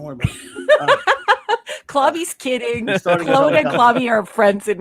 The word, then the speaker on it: Claude: I know you guys call him Claude. Claude. I'm Canadian. I got to pronounce it the French way. Claude.